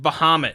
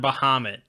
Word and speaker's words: Bahamut: It's like Bahamut, you know. It's not Bahamut. It's Bahamut.